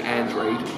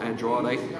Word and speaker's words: Andrade: If I'm annoying you, by the way, by constantly saying Andrade, that is how he, the fighter himself, says it's pronounced, not Andrade.